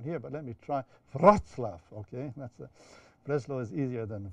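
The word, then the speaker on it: Wrocław: You know, Breslau is now, I'm pronounced, no, I don't think I can be corrected by anyone here, but let me try, Wroclaw, okay?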